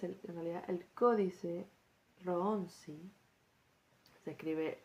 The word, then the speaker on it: Rohonczi: Bueno, el siguiente texto es el en realidad el códice Ronsi. Se escribe R o h O n c z I.